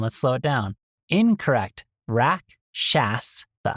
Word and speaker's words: Rakshasa: Rakshasa. Correct. Rock shawsa.